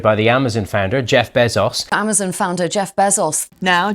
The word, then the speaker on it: Bezos: Founded by the Amazon founder, Jeff Bezos.